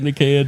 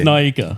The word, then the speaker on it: Nyika: You were saying Nikia, dude. I might have been 8 brouhahas deep and said something like borderline where I combined all those letters together. Yeah, and I was like, dude, it's spelt like Nika. Remember? All right. Yeah, let's not go back there. But it's Nyika.